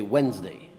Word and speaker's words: Wednesday: we'd call wedding's day if you say it the way it's spelled right today everybody just skips that extra D and you say Wednesday yeah and then you